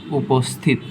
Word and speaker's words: উপস্থিত: এখানে দেখতে পাচ্ছি যে এইটাকে যদি আমরা ভাঙি, এটাকে আমরা যদি একটু উচ্চারণ করি, উপস্থিত, দন্তস্বরের সাথে কি যুক্ত আছে? দন্তস্বরের সাথে কি যুক্ত আছে? থ যুক্ত আছে, তাই কি হবে? দন্তস্বই হবে। ওকে, এই যে উপস্থিত, পয়ের নিচে ও লুকিয়ে আছে, তাই কি ওকার হয়েছে।